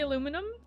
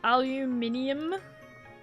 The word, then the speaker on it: aluminium: Do you not like the way I say aluminum? What should I say? Aluminium. That's even more like syllables.